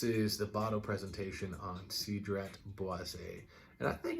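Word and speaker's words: Cedrat Boisé: because of the video title but it is sidret boisei and this time actually pronounced it correctly so if you saw the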